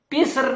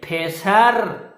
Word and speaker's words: پسر: کا پتہ نہیں ہے۔ فارسی میں پسر نہیں کہتے، پھیسر، پھیسر، لہذا پھیسر ایک لڑکا،